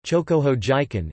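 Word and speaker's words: 張鼓峰事件: Incident, Chinese, Zhonggufeng Shijian, Pinyin, Zhonggufeng Shijian, Japanese pronunciation, Chokoho Jiken, in China and Japan, was an attempted military incursion from Manchukuo by the Japanese into territory claimed by the Soviet Union.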